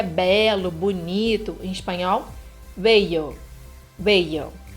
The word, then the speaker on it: bello: falando aqui do L, vamos falar sobre a pronúncia dessa letra. Então, a letra A, como é que é belo, bonito em espanhol? Bello, bello.